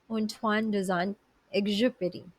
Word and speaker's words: Antoine de Saint-Exupéry: How to pronounce the name of the author. So as I checked, it is Antoine de Saint-Exupéry.